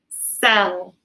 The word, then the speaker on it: cell: When that C and E come together, they oftentimes make the S sound instead of the K sound.